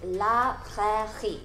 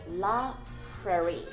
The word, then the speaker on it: La Prairie: 音嘅嘅。第二个音就是 long，个尾音是加少少鼻音的 long，嘅 long，嘅 long。下一个品牌是 La Prairie，呢个就是法文读音啦。第一个字 La 好简单啦，啦啦啦个 La。咁第二个字就是 Prairie，咁有两个用喉咙发出来的 R 音，第一个就是 h。黑，第二个音是 he he he he，前面再加个 p 就是 prairie la prairie。咁英文读音咧就简单啲嘅，就唔使用喉咙发出嚟，只系卷嚟就得噶啦。所以系 la prairie la prairie。最后我哋有意大利品牌 Dolce & Gabbana，第一个音咧同英文代表公仔 doll 嘅音一样